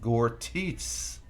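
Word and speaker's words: gorditas: it's it's just mace it's pronounced gortis okay Tony sounds good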